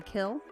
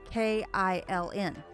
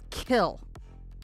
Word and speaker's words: Kiln: called the kill and it's spelled k-i-l-n so i'm going around saying you know it's the exit right after kiln yeah and everybody's looking at me like where the hell are you driving i don't know where that is you know there's no exit opportunity like that to tell people kill that's it yeah there's an n on it no you don't pronounce the id kill i've got